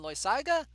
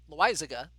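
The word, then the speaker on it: Loaisiga: i don't know about felix retreat against jonathan loy saga wait lizega sorry gotta get the pronunciation right that'll work sure uh let's see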